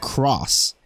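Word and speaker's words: Xros: Yeah, it was it was Digimon X roast like X ROS, but they would pronounce it cross.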